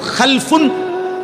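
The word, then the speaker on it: خَلَفٌ: খালফুন আরেকটা হল খালাফুন একই শব্দ শুধু উচ্চারণের একটু ভিন্নতা মাঝখানে একটা লাম আছে এই লামটার মধ্যে যদি সাকিন হয় তাইলে হল খালফুন আর যদি লামের মধ্যে জবর হয় তাহলে হল খালাফুন আরবি শব্দ খালফুন মজি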